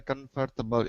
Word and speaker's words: comfortable: Not 4 syllables, but 3 syllables.